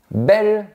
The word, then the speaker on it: bel: Ces formes particulières, belle, nouvelle et vieille, se prononcent comme les formes féminines, vieille, nouvelle et belle.